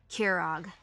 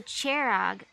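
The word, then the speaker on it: Kjerag: sent yourself packing from kerag to your victoria and been a worry less on keira herself oh it's actually ch okay so cherag it's good learning how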